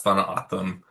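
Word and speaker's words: Tohono O'odham: We all learned how to pronounce tham together while we were at Lamour Hughes.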